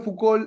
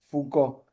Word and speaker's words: Foucault: Eh, bueno, no es fouol, es fou. En francés las últimas letras, si no hay una vocal al final no se pronuncian, ¿entiendes? Por ejemplo, si hay no pronuncian la última letra, si es vocal pronuncian la consonante. Si no hay vocal, no pronuncian esa consonante.